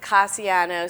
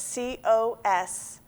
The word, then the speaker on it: Cosiano: because it can, some people pronounce it Cassiano, some Cosiano, Yeah, and good if point. they're phonetic spellers, sometimes that can get Right. a little confusing. Right. So it's Cosiano.